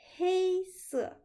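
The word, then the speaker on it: 黑色: Il faut faire attention à la prononciation de la couleur noire et la couleur grise. Écoutez bien, noir, c'est 黑色, 黑色. Et gris, 灰色, 灰色.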